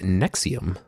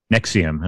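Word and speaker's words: NXIVM: whatever it's called correct it's uh actually it's pronounced nexium nexium okay i i only ever see it written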